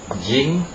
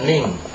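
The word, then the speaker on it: 人: orang nah ini kungnya kungnya itu Hito Hito ya di bacanya Hito sedangkan ongnya di sini itu bisa berarti di sini jing jing dan Ning ya jing dan Ning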